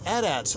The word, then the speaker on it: AT-AT: from Lucasfilm said no it's a dot like it would rhyme with hat hat so there you